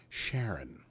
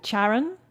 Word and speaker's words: Charon: they call it the charon it's a hard c i wrote it down but i've always pronounced that sharon let's go with charon i think because sharon